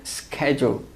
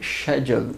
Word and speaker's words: schedule: Se for o inglês americano, ele vai ter um sonzinho de k, schedule, tá? Agora, se for o inglês britânico, eles já pronunciam isso aqui com som de sh. Então, seria future schedule, né?